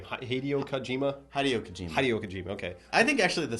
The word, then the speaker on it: Hideo Kojima: Hideo Kojima, okay.